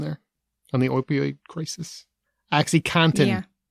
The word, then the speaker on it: OxyContin: Seriously, I cannot be the only person who thought it was cotton, like the fabric. Most people say it like that. So yeah. They do, but I was like, oh, it's contin.